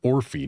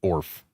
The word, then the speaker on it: Orphe: So, apparently I've been pronouncing it wrong the whole time. They are Orphe, not ORF.